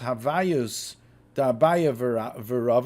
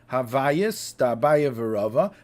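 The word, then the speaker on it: הוויות דאביי ורבא: However, the other things which we say, I think it's pronounced Havayus Da'abaya V'Rava. I looked up Rambam La'am that has Nekudis, so that's how you have the Nekudis. Havayus Da'abaya V'Rava.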